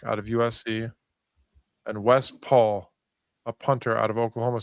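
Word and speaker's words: Pahl: And Wes Paul, a punter out of Oklahoma State. And that's how you pronounce his last name, even though it's P A HL. And it's not Les Paul like a guitar.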